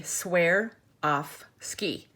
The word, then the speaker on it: Swarovski: how to pronounce it she told me that you say swear off ski so Swarovski it because I can never